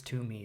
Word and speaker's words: Toomey: guest Chris Tumi is is that how you pronounce it Tumi it is indeed yep oh excellent Perfect all